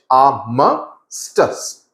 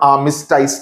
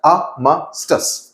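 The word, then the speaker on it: armistice: Okay, इसका pronunciation थोड़ा complicated है. इट्स AAMUH, आर्मिस्टास, STUHS. Okay, it's नॉट आर्मिस्टाइस, नहीं होता है, आर्मिस्टास.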